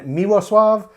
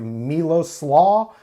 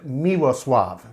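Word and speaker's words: Miłosław: is a Polish Brewer they are based in miwo Suave that's spelled m-i-l-o-s-l-a-w it looks like a Milos slaw in English and polish it is pronounced miwa Suave miwa Suave that's where they're located in Poland and this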